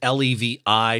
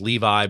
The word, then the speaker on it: Levi: And again, Levi is L-E-V-I. So some of you may think of it as Levi, but it's actually Levi as it's pronounced.